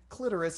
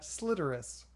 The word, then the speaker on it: clitoris: Just like city is just the pronunciation, just like you say clitoris and not Slitorus.